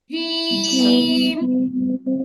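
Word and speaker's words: جيم: জিম, জিম, জিম, জিম হবে না আপু, জিম হবে না, মাখরাজ খেয়াল করতে হবে। জিহ্বার মাঝখান উপরের তালুতে লাগবে, জিহ্বার মাঝখান থেকে জিম উচ্চারণ হবে।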